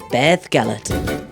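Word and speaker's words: Beddgelert: the dog and there it is G's grave Beth gallet it's a beautiful story and definitely worth checking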